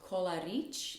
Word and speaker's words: Kolaric: My last name is pronounced Kolaric, actually Kolaric. It's like rich Coca-Cola, Kolaric. People have their own variations like Kolaric, Kolarikovna, and a lot of other things, but it's Kolaric.